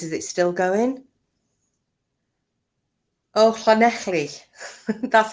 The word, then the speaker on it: Llanelli: Oh, Llanelli. That's how you say it, isn't it? Llanelli.